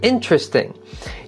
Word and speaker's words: interesting: to say these words if you say interesting like interesting you have four syllables practice saying it with three interesting you don't have to